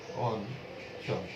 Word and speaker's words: অঞ্চল: যেমন এখান থেকে একটা উদাহরণ আমরা নিই, চ এর সাথে অঞ্চল, যার উচ্চারণ হবে অঞ্চল, অঞ্চল।